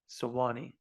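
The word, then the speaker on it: Suwanee: never say that Town's name sawani it's really sawani sawani Georgia which is north of Atlanta folks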